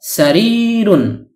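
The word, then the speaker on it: سَرِيرٌ: অনেক সময় আমরা সারির বলে থেমে যাই, শুধু সারির উচ্চারণ করে মুখস্থ করে থাকি, অর্থাৎ ওয়াকফ করে ফেলি, মানে শেষের তানউইনুনটি উচ্চারণ করি না। আশা করি এখন থেকে আমরা এর পরিপূর্ণ উচ্চারণ করার প্রয়োজনীয়তা খুব ভালোভাবে অনুভব করতে পারব।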